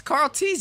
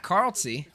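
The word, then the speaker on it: Karltzy: rest of the numbers it's Carl TZ isn't it that's how you say it already it's not Carl C they even the casters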